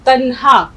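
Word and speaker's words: تنہا: वही लफ्ज लिखा, तो तन्हा। अब इसके हिज्जे करके बताइए, उसी से देखिए हम सीखेंगे पढ़ना। ते जोड़िए, तन, हाँ, ते नून जबर तन, फिर हे अलिफ हाँ, तन्हा। तन्हा, हे अलिफ जबर हा।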